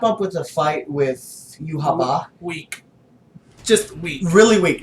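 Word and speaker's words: Yhwach: It's supposed to be pronounced Yuhaba, but the letters used are, I think, Y, W, A, C, H.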